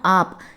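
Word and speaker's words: आप: நீங்கள் அப்படின்னா ஆப். இப்போ நீ அப்படின்னா கேஷுவலாக சொல்லுவோம் தும். நீங்கள் அப்படின்னு ரெஸ்பெக்டாக நம்ம ஆப் அப்படின்னு ப்ரொனவுன்ஸ் பண்ணணும்.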